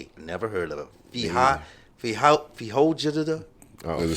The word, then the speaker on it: Feijoada: Maybe you guys, I can't even pronounce it. Fajada. I'm going to spell it. It's Feijoada. Never heard of it. Feijoada.